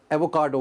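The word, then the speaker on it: avocado: सो the word was एवोकाडो, उसमें आर था, आर नहीं होता, एवोकाडो।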